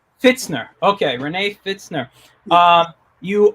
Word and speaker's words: Pfitzner: renee how do you say your last name fitzner fitzner okay renee fitzner um you are an artist